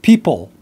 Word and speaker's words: people: And the first word is people. People. So it's really hard, typically, for Chinese speakers to pronounce that final L, that dark L.